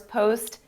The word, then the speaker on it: PostgreSQL: Post GRE SQL. Did I say it right? That's it. Yeah, well, that's PostgreSQL, or Postgres or PostgreSQL. Take your pick there.